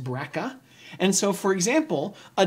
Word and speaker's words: BRCA: to the brca genes often pronounced breaka and so for example